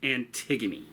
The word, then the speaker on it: Antigone: I know it looks like it's spelled Antigone, but it's pronounced Antigone.